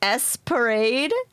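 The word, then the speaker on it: ESP Ra.De.: ESP is pronounced S-Parade. Wait. S-Parade. Says in the title screen during attract mode.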